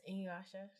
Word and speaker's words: Inuyasha: Yes, Inuyasha.